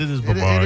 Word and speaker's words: Brevard: It's out of Brevard County, or Brevard County, however you want to pronounce it. That's Brevard. I always say Brevard, but it is Brevard.